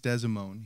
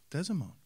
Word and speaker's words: DeSimone: Well, you didn't really say it right, but it's okay. DeSimone, no? DeSimone. DeSimone. DeSimone.